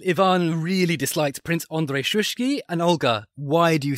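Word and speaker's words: Shuisky: How should I say it? Shushki? Shushki. Oh, okay. I'm miles off. So little Ivan really disliked Prince Andrei Shushki.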